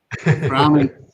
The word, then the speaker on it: Groningen: pronounce it wrong, so I'll get Michael to pronounce it for you. He's done Groningen.